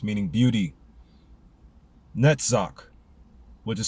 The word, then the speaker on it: Netzach: Netzach, which is spelled N-E-T-Z-A-C-H, number 7, meaning eternity.